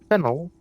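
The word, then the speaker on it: Faneuil: The name of this building is pronounced pan or fennel. Fenel. Okay. Getting it wrong is a good way to indicate you're not from around here. Uh but it's also a great way of proving you're not French.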